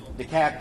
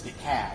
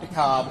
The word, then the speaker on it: DeKalb: DeKalb County, 802. And I want to take a note of personal privilege for a second for the Yankees in there. It's DeKalb, not DeKalb, not DeKalb, it's DeKalb.